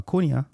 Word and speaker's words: Cunha: Matthias Cunha. Or Cunha, if you want to say it.